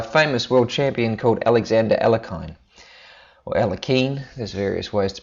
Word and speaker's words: Alekhine: a Russian name there's various ways to pronounce it but at I recently ran into a fellow whose grand father was a Grandmaster chess called Buch and he played le keenan and tells me that that's how it's pronounced so I'm not going